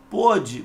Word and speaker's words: pôde: Olha só, pôde, pronúncia fechada, indicando o passado, o pretérito perfeito.